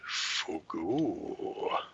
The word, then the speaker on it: fugu: It's pronounced Fugu.